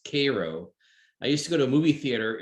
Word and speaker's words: Cairo: town called cairo it's spelled cairo but it's pronounced cairo i used to go to a movie theater